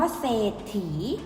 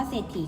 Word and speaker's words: เศรษฐี: ต่อ ไป คำ ว่า เศรษฐี เวลา อ่าน นะ คะ มี สอง ศรา พบ กับ รอ เรือ แต่ เวลา อ่าน จะ ไม่ อ่าน ออก เสียง พยัญชนะ ตัว หลัง ก็ คือ ออก เสียง